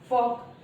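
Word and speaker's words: folk: हमें ध्यान रखना चाहिए ये कुछ ऐसे वर्ड हैं जिनमें जो एल है वो साइलेंट होता है, और सही प्रोनाउंसिएशन क्या होगा, वॉक, कॉफ, हाफ, फॉक। तो ये जो है ये हमारा सही प्रोनाउंसिएशन होगा।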